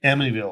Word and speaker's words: Amityville: Amityville horror.